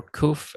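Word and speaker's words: qof: have cough which or koof as they say in the modern pronunciation would just come across like um so it sounds like a k basically in in english uh historical or comparative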